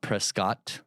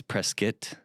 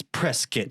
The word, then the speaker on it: Prescott: Oh, and by the way, it's not Prescott, it's Prescuit. And they told you that day one. You will be burned and crucified. No. Oh my. This lady let me have it. Oh, no. Because he said it wrong. I said, "Oh yeah, I'm I'm moving to Prescott." And she's like, "It's press kit, sir."